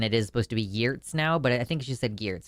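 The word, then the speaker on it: Giertz: So, she is changing the way that her last name is pronounced to Gears. Unless I misheard it and it is supposed to be Yurtz now, but I think she just said Gears.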